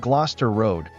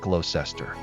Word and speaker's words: Gloucester Road: Also, it's pronounced Lester Square, not Lysester, and Gloucester Road, not Glowester.